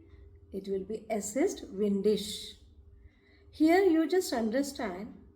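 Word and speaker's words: windig: If it is windy, it will be es ist windisch. Here you just understand, if suppose ig comes at the end of any word, it will be sure. It is pronounced as sure.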